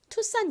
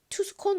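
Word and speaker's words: Tucson: 산이라고 발음이 되는 겁니다 이거를 잘못 읽으면 스콘 뭐 스콘 뭐 여러 가지로 이상하게 읽을 수 있는데요 어 산이라고 읽는다는 거 기억해 주세요 투산 역시 미국에 있는 한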